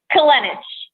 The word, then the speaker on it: Kolenich: And tonight we have Kolenich. Kolenich? I'll never learn. I'm useless. I'm sorry. Help me. How do you say it? Kolenich.